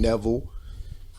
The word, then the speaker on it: Neville: that Marcus Davis I'm sitting here with Neville I got you right that's right yes man